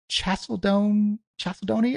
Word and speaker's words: chalcedony: It is quartz, onyx, chalcedony. I don't know how to pronounce that word.